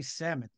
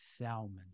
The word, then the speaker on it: Salmon: his last name because it's spelled like the fish and he says up here we say sammon um down where I am it's salmon but anyway John salmon